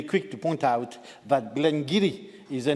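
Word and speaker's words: Glen Garioch: manager will be quick to point out that Glenn giri is the name of one of Scotland's oldest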